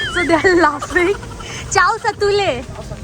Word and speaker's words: chow satule: जिसका pronunciation I did wrong, so they are laughing. Chow satule. Chow satule.